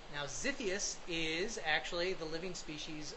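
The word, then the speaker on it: Xiphiactus: it the current name for this species is zius now it's spelled with an x x i p h i a c t u s now zius is actually the living species of uh swordfish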